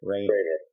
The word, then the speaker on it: Rainer: story to tell about the lovely actress Louise Rainer, or is it Rainier? How do you pronounce her last name? Rainer.